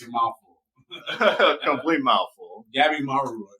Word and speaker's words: Gabimaru: Gabimaru. I think that's how you say his name. It's a mouthful. Complete mouthful. Gabimaru. Gabimaru.